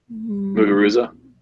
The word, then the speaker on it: Muguruza: I think it's more warranted that there's an article out there if how do you pronounce her name? Muguruza.